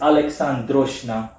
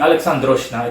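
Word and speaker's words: Alecandrosjna: him his name is alexandroshna I repeat alexandroshna it sounds Russian it's spelled a-l-e-c-a-n-d-r-o-s-j-n-a the C essentially is pronounced as a as a an SK not sorry a KS so Alex essentially like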